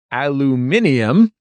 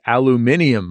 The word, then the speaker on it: aluminium: spell the word aluminum my husband Kyle insists that aluminium is correct I know that's how they say it in the UK but Kyle and I have lived in the US our entire lives I say it's pretentious to ask for the aluminium foil he says the rest